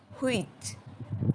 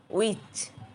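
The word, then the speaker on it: which: আমরা বলি হুইচ, এর সঠিক উচ্চারণ হচ্ছে উইচ।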